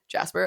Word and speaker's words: Jaspar: Jasper. Okay. Yeah. I just think because it's spelled Jaspar.